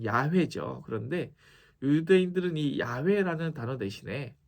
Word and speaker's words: 야훼: 여호와라는 단어를 사용하지 않습니다 여호와는 사실 한국식이고 원래 발음으로 야외죠 그런데 유대인들은이 야훼라는 단어